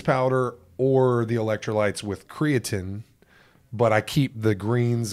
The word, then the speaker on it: creatine: Creatine. Is creatine is how you pronounce it. Teen. T-E-E-N.